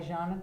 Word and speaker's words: Can: And so portrait meet is a thing that this guy, Jean Tom, It's spelled C-A-N, but you say Jean.